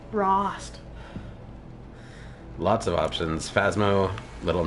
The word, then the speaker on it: Rost: And so now I just kept thinking it was roast, but it's Rost.